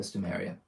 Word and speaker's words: Stomaria: If you say Stomaria, Stomaria, doesn't matter. Stomatia, Stomanea, Stormaria, or whatever else, those, however, are unacceptable names for Stomaria.